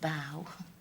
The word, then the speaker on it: bough: I know it's hard working out when we pronounce it rough and when we pronounce it bow.